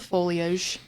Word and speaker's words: foliage: Um, I'm sure it's just because of like, you know, the foliage. Folage. Foliage. Foliage. There we go. We got it.